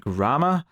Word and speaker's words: Gramma: this episode they are called grma as in grandmother Gramma says I'm saying grammar as in like you know spelling in grammar uh grma I need an American accent to to sell that that pronunciation grma grma anyway uh